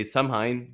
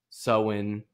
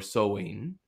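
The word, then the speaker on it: Samhain: to the Celtic Festival of I would say samine but it's apparently pronounced soen or seen um AKA Halloween people um and it is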